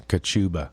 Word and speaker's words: Kachuba: It's spelt just like it sounds. Kachuba with a K.